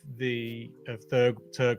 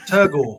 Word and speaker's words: Turgore: When you do another colorway of Turgo, I can't pronounce it. Turgore.